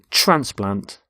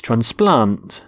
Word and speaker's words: transplant: both nouns and verbs we stress the first syllable in a noun and the second in a verb so the noun is transplant so a heart transplant but with a verb it's transplant so the doctor transplants